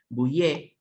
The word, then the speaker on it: Bouyer: Luis Boucher se escribe, Boucher con Y, acá en el Río de la Plata se pronuncia así la Y, ¿qué va a ser? Bouyer.